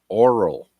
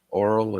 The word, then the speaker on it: Aurel: 3 Golf Yankee Echo, Oral in Trenton. Oral is spelled Aurel.